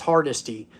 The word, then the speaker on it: Hardesty: JoJo Hardesty. That's how you say that name, by the way, Willie Lop Lop. I was watching your show today. It's Hardesty.